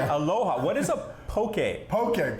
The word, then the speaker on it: Poké: what is a poke poke poke is it rhymes with okay that's your okay I